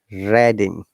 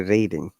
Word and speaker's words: Reading: kingdom there is an university called university of redding we do not say reading university of redding in the reading city of